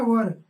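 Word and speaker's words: were: चूंकि वी हमारा प्लूरल है इसलिए वी के साथ हमारा क्या लगेगा, वर। इसको चाहे वर पढ़िए चाहे वेयर पढ़िए, अलग अलग कंट्री में अलग अलग प्रोनाउंसिएशन है।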